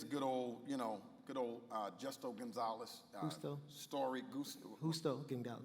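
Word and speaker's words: Justo González: Justo Gonzalez. There you go. I was pronouncing it wrong.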